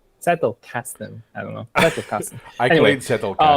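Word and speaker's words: Zettelkasten: I I remember telling you like I have a collection for Satukasen now. I just cannot stop pronouncing the German way. How do you say it in English? Settle casten.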